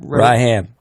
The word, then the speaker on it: Rahman: Rahman. Rahman. That would be Rahman. Raham. It's spelled that way. Rahman. It's spelled Rahman, but it's actually pronounced Raham. So the first M is silent.